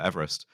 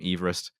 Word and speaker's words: Everest: Pronounced his name Everest, and one of the